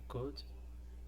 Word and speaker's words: could: A gente vai começar com a could, lembrando que o L de cada uma dessas palavras é um silent letter, ou seja, a gente não pronuncia.